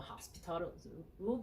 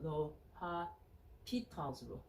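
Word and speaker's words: L'Hôpital: I used to call Hospital's rule. There's no S, Lo, and the H is silent, so L'Hopital's rule.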